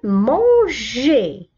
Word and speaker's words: mangeais: la fatigue la fatigue، لأننا في هذه الحالة بعد الجي أتى الحرف أو وبعد الأو أو، إذا نطقنا جي la fatigue. نسمع الصوت جي la fatigue. je mangeais je mangeais.